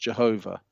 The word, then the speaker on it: Jehovah: That's either pronounced Yahweh or it's pronounced Jehovah. Okay, so and they are repeated in the Bible over 7,000 times.